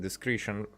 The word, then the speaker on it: discretion: I would pronounce it discretion. Like discreet. Discretion.